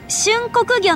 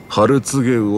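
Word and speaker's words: 春告魚: お客さん、それはね、春告げ魚って読むんですよ。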